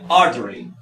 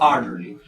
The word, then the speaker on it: artery: Entonces aquí vemos que la mayor fuerza de voz está en artery.